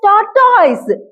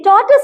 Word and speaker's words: tortoise: How we are to pronounce tortoise? They pronounce it as tortoise. Where the problems lies with the primary school teachers. Tortoise. Okay, tortoise is the pronunciation.